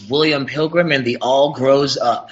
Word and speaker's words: William Pilgrim and The All Grows Up: We are, I guess the title is correctly pronounced as William Pilgrim and the All Grows Up.